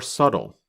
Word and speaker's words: subtle: But other differences are more subtle. That's spelled S U B T L E. But we do not pronounce the letter B in the word.